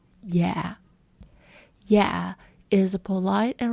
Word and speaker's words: Dạ: Always start your sentence with the word "Dạ." Dạ. So, it's pronounced like "Yeah" with a very soft downward tone. Dạ.